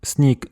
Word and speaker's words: sněg: Donc neige se dit sneak en bas sorab mais sny en haut sorab.